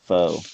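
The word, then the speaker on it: pho: that's hard now qnan is that the one i think it's pronounced foe right thank you um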